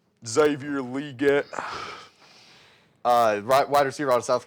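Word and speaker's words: Xavier Legette: Carolina trades up to 32 to draft Xavier Leggett. That's how you say it, according to him. Xavier Leggett.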